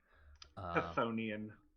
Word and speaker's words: Chthonian: I think I pronounced that right. Chthonian.